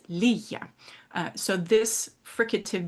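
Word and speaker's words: ligga: uh which uh is pronounced with a little bit less of a hard G.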